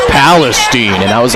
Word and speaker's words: Palestine: I called it Palestine, and Don was like, it's Palestine.